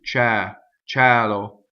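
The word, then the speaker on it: ciel: Open E, ciɛlo, ciɛl.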